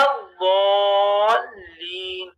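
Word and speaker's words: الضالين: انعمت علیہم غیر المغضوب علیہم ولا الضالین. یہاں پر ہمیں کھینچنا ہے ولا الضال یعنی لام کو ملا دینا ہے، اس طریقے سے کھینچنا ہے وہ کو کہ لام سے ملا دینا ہے.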